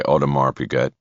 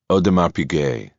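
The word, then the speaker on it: Audemars Piguet: "Do you sell watches by Odmar Pigette?" "Odar Pigay," the man said, pronouncing it quite differently than Bosch had.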